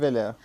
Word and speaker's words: Weiller: How do we pronounce his surname? Weller? Jules Weiller.